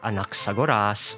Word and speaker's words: Anaxagoras: So yes, the way I pronounce the name Aglaia or Anaxagoras, where the pitch rises on certain syllables, is a result of pitch accent.